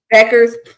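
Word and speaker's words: Bueckers: So definitely like Paige, how you pronounce her last name? Beckers.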